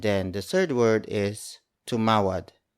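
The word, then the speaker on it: tumawad: question marker and then the third word is to Mawlid it's spelled as T u M a w a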